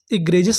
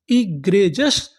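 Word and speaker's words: egregious: जी आर ई इसे क्या पढ़ेंगे? ग्रे जी आई ओ यू एस मैंने आपको क्या बताया? इसे क्या पढ़ना है? जस। तो मीनिंग क्या बनी? इ ग्रे जजस।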